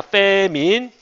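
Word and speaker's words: famine: 발음이 페민이야. 페민.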